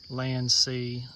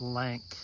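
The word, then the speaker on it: LANC: This is my Sony NX80, and I have heard other people pronounce it Lank, but I've always known it the proper way to pronounce it as Land-C or Control L.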